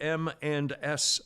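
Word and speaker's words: M&S: and s title pawn i say it like that because it sounds like eminence and it's really it's spelled mans and i'll get to that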